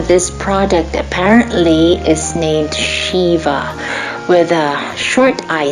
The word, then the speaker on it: Shiva: I'm correcting my pronunciation in this video. I made a mistake of calling this product Shiva in my previous video. Sorry about that. I've heard North American artists call it that way, probably because we tend